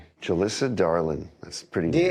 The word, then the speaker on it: Darlin: Darling.